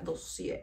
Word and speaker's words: Dossier: Que ya vi cómo se pronuncia, me salió por ahí un TikTok. Se pronuncia Dossier.